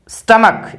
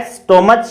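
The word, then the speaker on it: stomach: Next आता है सी एच, सी एच से भी कै साउंड आती है, जैसे केमिस्ट, स्टमक, ये स्टमक होता है, स्टोमच या स्टमच नहीं होता, स्टमक होता है।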